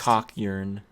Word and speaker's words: Kakyoin: that's how his name is pronounced cockyearn yeah you're not blonde so yeah that's kind